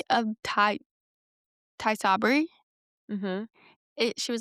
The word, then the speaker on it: Tysabri: She said Ocrevus, Kesimpta, Tizabri. Tysabri.